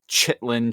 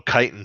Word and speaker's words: chitin: yeah, make that a lot of distance, chitlin cheeks." Oh, chitin cheeks. And So I'm probably just pronouncing it wrong.